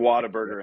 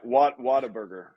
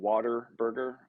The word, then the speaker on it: Whataburger: No, yeah, Whataburger. Oh, gotcha. A lot of people pronounce it Waterburger, but Mm.